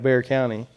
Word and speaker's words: Bexar: close to San Antonio you have Bear County right right well you see how it's spelled b e x a r right yeah so she goes